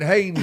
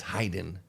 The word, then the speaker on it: Hayden: a damn call, Matt Hayden. And he finally called me. It's like, it's Hayden. It's Hayden. You're mispronouncing my name.